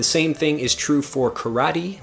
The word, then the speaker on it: karate: thing is true for karate we say karate in English instead of karate in Japanese and also we have